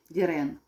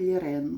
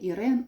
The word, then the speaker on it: Lirene: по ній можна розпізнати лірену лірен хоч е остання е не читається і звучить це як лірен Не Ірен а лірен тут бачите не видно